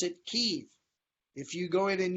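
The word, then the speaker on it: Kyiv: the capital different in kiev the local ukrainians pronounce it kiev if you go in and you say kiev they assume that you are russian balanced because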